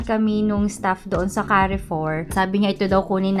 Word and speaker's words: Carrefour: Yan so carry 4 pala iyung pronunciation. Hindi car for car four.